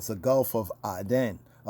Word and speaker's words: Aden: called the Gulf of Aden, right? Aden, but it's pronounced as Aden, like the Gan Ba'aden.